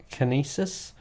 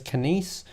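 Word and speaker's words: Kinéis: deal with was it Kinesis? Oh, right, Kinese, that's the one. This name, when you look at it, you're like, oh, how do I pronounce that? So the company name is Kinese.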